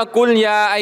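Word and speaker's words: قُلْ يَا: เป็น อิหม่าม ท่าน อาลี อ่าน ซูเราะห์ กุนยา อ่าน ว่า กุลยา ฮัล กาฟิรูน ความ หมาย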